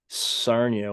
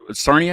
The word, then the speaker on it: Sarnia: never been like like Sernia. Is that how you say it? Sarnia. Yeah, Sarnia. Yeah.